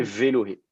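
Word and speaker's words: ואלהי: Et ça vous fait Velohé. Velohé Yitzhak. Okay. Le Aleph n'est plus prononcé du tout.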